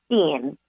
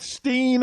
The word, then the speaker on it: Stiene: It's actually Stiene. It rhymes. Stiene. I was going to go with Steen, and then my gut said, you know what, let me change it.